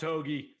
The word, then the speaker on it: Hoge: come on i'm going hogecoin to the moon pronounced hoagie i'm calling it hogecoin uh he is 14th tom hoagy on the pga tour in round one scoring